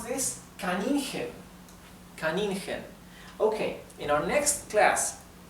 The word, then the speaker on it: Kaninchen: So let me tell you now that CH in German is pronounced right? It's similar to the English H, but rougher, right? It's more rough. The German H is pronounced the same as the English H, but the German CH is much more rough.